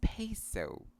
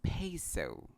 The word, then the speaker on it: peso: We have to emphasize the diphthongs in the two syllables. A for pay and O for so. It's peso. Again, it's peso.